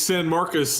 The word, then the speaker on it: San Marcos: it correct him level how do you pronounce it it's San Marcus and this is the